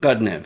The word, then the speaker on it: Khodnev: Is it Khodnev? Is that how you pronounce that? Khodnev. Okay, Khodnev.